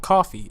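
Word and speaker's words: CFVY: one of a future team called coffee which is spelled if I'm remembering correctly there's a C fvy coffee but yeah I believe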